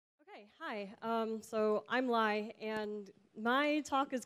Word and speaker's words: Li: that's me um so my name is Li at rhymes with pi and I'm a grad